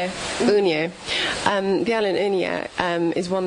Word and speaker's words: Unija: And is Udin, I can't say the name, what, how do you say the name again? Unija.